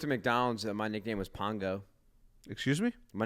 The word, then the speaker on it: Pongo: McDonald's my nickname was Pongo excuse me my name was Pongo when I worked in McDonald spell it P O N G O Pongo like Bongo but with a p no I think it's